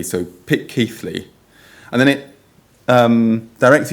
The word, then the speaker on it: Pitceathly: Uh, and the name should be typically pronounced phonetically as pit as in pit, key as in C, and flee as in flea. So, pick key flea.